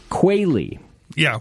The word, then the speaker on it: Quealy: thing of of endearment we keep aist of mispronunciations you do qua yeah like the bird okay where does the name